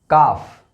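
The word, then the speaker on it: calf: इन सभी वर्ड्स में एल जो है वो साइलेंट है।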